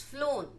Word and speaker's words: flown: you say that FL it's flown flown flown f l o n e though it is written as f l o w n now the ninth